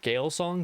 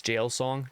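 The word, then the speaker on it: Gael Song: book in the uh Gail song Jail song I'm not 100% sure which one of those is pronunciation because it's Irish I believe it's Jail song Trilogy by Sha aalis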